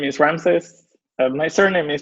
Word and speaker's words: Ramses: a couple of sentences hi my name is Ram says my surname is pronounced and I work at gana integrity